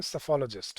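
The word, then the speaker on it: psephologist: तो इसमें P silent होता है, तो इसको प्रोनाउंस कैसे करते हैं? सेफोलॉजिस्ट, ठीक है।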